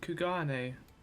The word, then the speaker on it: Kugane: You mean Kugane? Yeah, he kind of pronounced that wrong.